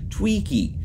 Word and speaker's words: Twiki: future ice cream pong it's not pronounced wiki it's pronounced TWiki it's from Buck Rogers just FYI I there